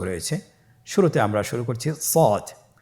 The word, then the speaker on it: صاد: শুরুতে আমরা শুরু করছি সদ। সদ হরফটি পুর হরফ, মোটা হরফ, উচ্চারণের ক্ষেত্রে মোটা করে পড়তে হবে এবং উচ্চারণ করার সময় 3 আলিফ টেনে পড়তে হবে।